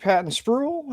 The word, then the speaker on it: Patton-Spruill: All right, we are here this afternoon with Robert Patton Spruel. Am I can pronouncing that correctly, sir?